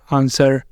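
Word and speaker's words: answer: नीचे लिखे हुए हैं इनमें भी डब्लू साइलेंट होता है लेकिन इनके लिए कोई रूल नहीं है जैसे आंसर टू सोल्ड और इनके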